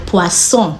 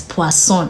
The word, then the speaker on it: poisson: pronounce our words in French because sometimes we pronounce a word uh wrongly and it means an entirely different thing so poisson means fish means poison so in this case poisson is an example all right so the next